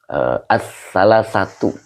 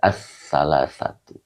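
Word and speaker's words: الثلاثة: Ai ini adalah huruf tafsiriyah ya, huruf tafsiriyah, maka dibaca as-salasatu begitu ya. Jadi bacanya adalah as-salasatu.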